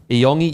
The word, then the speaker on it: Iyongi: As your resident Tongan translator, Iyongi is pronounced E-Y-O-N-G-E. So Iyongi. Whoever told you the other translation is wrong.